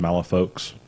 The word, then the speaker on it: Malifaux: But I mean, we're going to take the official stance here that everyone that plays the game is wrong because it should be pronounced Malifaux.